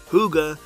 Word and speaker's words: hygge: Enjoying the simple things in life is so important to the Danes that they have a special word for it, hygge. Pronounced hygge, the word defies direct translation.